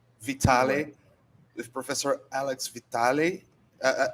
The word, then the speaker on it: Vitale: you pronounce your name alex vitale vitale or vitaly vitale with professor alex vitale